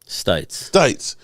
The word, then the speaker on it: Stites: When I say that this whole thing is a group effort, the fact that Stephanie Stites, did I say it right? Stites? Did I get it right? Stites. You got it.